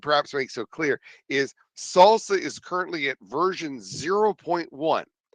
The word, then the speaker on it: SLSA: so can you use salsa today absolutely and by the way that's how it's pronounced slsa is pronounced salsa so can you use